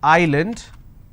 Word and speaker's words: island: example solution all right but if i have a word which is island i don't pronounce this as island so s is silent here okay for example if